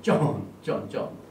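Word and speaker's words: צאן: 그래서 여기 아비의 양떼 이 히브리 원어를 보면은요, 양떼 이게 히브리어 짜디 알렙 그 다음에 눈입니다. 네. 그래서 쫀 발음이 쫀 이게 양이라는 말입니다.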